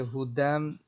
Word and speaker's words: هدى: على هدى من ربهم এখানের ভিতরে এই যে হুদাম হুদাল এটা যে সরাসরি মিমকে ধরবে, মাঝখানে যে ইয়া আছে এটা শুধু লেখায় আসছে কিন্তু পড়ায় আসবে না, উচ্চারণের ক্ষেত্রে ইয়াটা আসবে না, সরাসরি কি হবে হুদাম, দাল যে মিমকে ধরবে হুদাম।